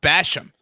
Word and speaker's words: Basham: But to be fair, it's pronounced Basham. So it's not, and because I think if he would have said it, everybody would have been like, what?